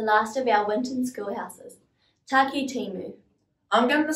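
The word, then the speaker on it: Takitimu: Let's break it up. Taki, your turn. Timu, you try.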